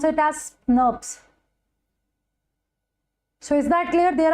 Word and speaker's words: snRNP: they are basically kind of SNS right you pronounce it as nurs so is that clear there are different different types fine they are they are of different different types okay so small snrnp nurs we pronounce it as nurs so small nuclear